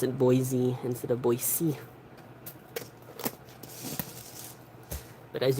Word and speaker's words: Boise: And that part is right outside the Boise Botanical Gardens, so like they could have been brought in with plants from like California maybe.